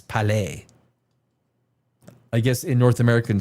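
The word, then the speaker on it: Cour-Palais: In French, you don't pronounce that S, Palais.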